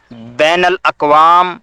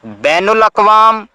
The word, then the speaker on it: بین الاقوام: البتہ لکھتے صحیح ہیں۔ عربی میں نون کے زبر کے ساتھ الفاظ بین الاقوام، بین الممالک اور بین المذاہب ہیں۔ ان کا تلفظ اردو میں نون کی پیش کے ساتھ بین الاقوام، بین الممالک اور بین المذاہب کیا جاتا ہے، جو غلط ہے۔ ریاست کے لیے میم